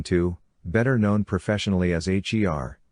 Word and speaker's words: H.E.R.: better known professionally as h ER pronounced her a backronym for having